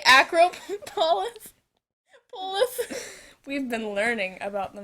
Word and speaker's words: Acropolis: It's the Acropolis.